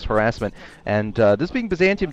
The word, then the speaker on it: Byzantium: what are we going to we're going to Byzantium ah said it right this time Byzantium uh